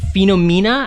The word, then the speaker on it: Phenomena: If you ever get a chance to watch it, it's Phenomena. I had to Google it to make sure I said it right. Yeah, Phenomena.